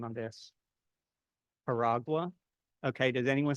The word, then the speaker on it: Jaragua: Okay, when I looked online, I saw people calling it Haragua. I talked to a friend who's Portuguese from Brazil, and she said it's Charagua.